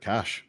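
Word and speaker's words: cache: I just go with cash but yeah the cas it's a French word and they pronounce it cash yeah I mean yeah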